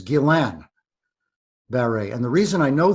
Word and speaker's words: Guillain-Barré: so first of all the the proper pronunciation for everybody not no one in particular is Gillan berry and the reason I